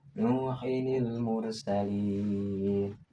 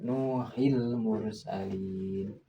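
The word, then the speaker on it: نوحٌ المرسلين: Namun tata cara membacanya tetap sama, yaitu dengan memunculkan nunnya, nun kasrahnya, yaitu Nuhinil mursalin, Nuhinil mursalin, Nuhinil mursalin. Ini bukan Nuhil mursalin. Itu salah kalau membacanya seperti itu.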